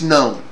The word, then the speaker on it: GNOME: offend their virgin ears fine it's known okay the g is silent i get it why